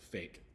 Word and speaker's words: fake: So fake has the silent E at the end. So you don't have to worry about making a sound for the E here because it's at the end and silent.